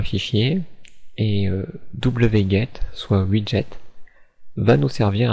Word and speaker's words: wget: Enfin, on va aller sur Google et nous allons taper WGE, prononcer Widget.